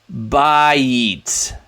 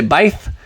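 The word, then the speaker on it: בית: don't do that we give it the German pronunciation which uh doesn't know how to say the we say we say bite we don't say baith and so um bite means house same root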